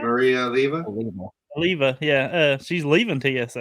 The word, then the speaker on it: Olivia: Olivia, yeah.